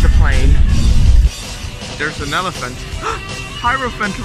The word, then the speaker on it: Hierophant: Hierophant rhymes with elephant, just like Hierophant Green.